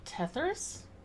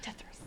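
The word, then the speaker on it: Tethras: Tethers? Yeah, Are Eric's you- last name, Tethris. Oh. I mean, I just didn't know how to say it. Oh, I was yeah. like, Tethers? Eric Tethris.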